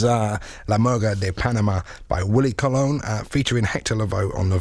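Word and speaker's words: Willie Colón: And it's by Willie, I always call him Willie Colon, it's actually pronounced Willie Colon, but I'm still going to call him Willie Colon for a few more goes, I think, featuring Hector Lavoe on vocals.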